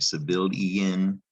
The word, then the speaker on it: civilian: pronounced e in like civilian like canadian but in this case it's pronounced civilian it's not spelled y e i n but that's how it sounds so take a look